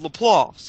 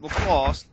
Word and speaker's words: LaPlace: meet at was called Laplace, and we naturally say it Laplace, from down here. But there were other people on the cruise who were like, we gotta meet at LaPlace.